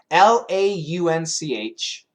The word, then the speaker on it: launch: was an o w law is an aw laun not a j but a CH the J is vibrated the is not lunch uh short u again